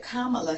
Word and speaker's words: Kamala: I have heard a lot of people mispronounce her name and say Kamala, whatever her name is, Kamala. Everybody doesn't know how, everybody may not flow off their tongue the same. But Kamala Harris.